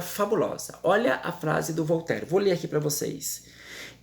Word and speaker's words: Voltaire: A gente escreve a palavra Voltaire, escrevendo Voltaire, mas a pronúncia é Voltaire.